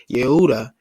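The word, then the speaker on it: יהודה: And Oda after Judah, spelled and pronounced as Yehuda in Hebrew, all right?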